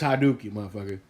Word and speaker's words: Hadouken: here and be like that's not how you pronounce it look i play street fighter for i don't know how long it's hadook